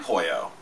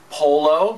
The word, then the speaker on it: Pollo: the Sea of course there's been some interesting interpretations of my name and some terrible mispronunciations i've been called Polo that one's very common pop which is pretty disgusting and my least favorite of all polio hello that's a deadly disease when I first moved